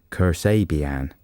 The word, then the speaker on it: Kasabian: let's have a record yeah this is uh Kasabian and it says helpfully here on the playlist pronounced Cur say B and curse abian and uh it's the fourth single from the